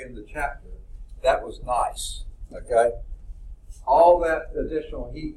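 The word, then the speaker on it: gneiss: But if you have even more pressure and more heat and more changes, it becomes, and this is pronounced nice rock. No, G-N-E-I-S-S, nice.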